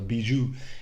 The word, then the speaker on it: Bijou: lebih gee I'm sorry I pronounced it in the Spanish name it's actually a French name the Bijou it really reminds me